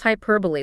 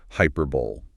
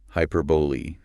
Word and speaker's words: hyperbole: want to pronounce it hyperbole. Yeah, which makes total sense based on the spelling. But the correct pronunciation stretches out the end of the word. Hyperbole.